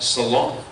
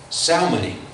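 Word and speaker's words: Salmone: And as the wind did not allow us to go farther, we sailed under the lee of Crete off Salona. Salmoni.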